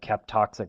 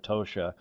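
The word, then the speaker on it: Kaptoxa: that we list there it looks like like cap toxic it's actually pronounced kosia this is the infamous black POS that many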